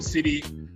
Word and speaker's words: Tseli: to talk about um this subject so welcome city uh first of all how are you doing